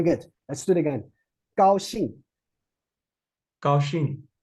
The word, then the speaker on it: 高兴: 高兴. Okay. Aaron, please read after me. 高兴. 高兴 Right. Very good. Let's do it again. 高兴.